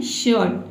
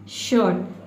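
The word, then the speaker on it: shirt: आपको र प्रोनाउंस करना ही नहीं है। आपको क्या पढ़ना है? शर्ट। शर्ट। शर्ट का मतलब क्या होता है हिंदी में?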